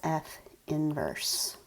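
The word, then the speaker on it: f⁻¹: That's what it looks like, is a little -1 as an exponent, but you pronounce it as f inverse.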